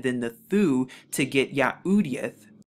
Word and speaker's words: Yahudyth: the thu to get yahoodith so when you put all of the six letters together you actually get the word yahoodieth or yahudiyat which of course they